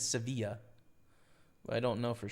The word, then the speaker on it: Sevilla: Uh on Espa it's Sevilla. How's it pronounced in Spanish?